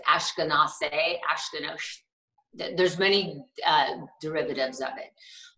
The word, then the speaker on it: Askinosie: Askinosie, is that pronounced correctly? Askinosie, yes.